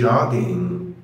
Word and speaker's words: jogging: فبنقول عليها بالانجلش go jogging. Go jogging. لاحظ بقى ان اي كلمة اخرها ing مش بنطق الجي بخليها يعني اخف حاجة ممكنة ما بقولش go jogging لا بقول go jogging.